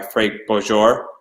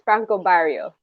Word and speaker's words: Franco Barrio: I think your dress by the first Elsa was done by Frank Bojor. I want to say. I think Yeah, it's Franco Barrio.